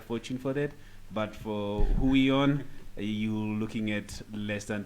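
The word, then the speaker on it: Huion: my pick of the week is Hui on yes that's how it's that's how you pronounce it Hui on H 610 Pro v2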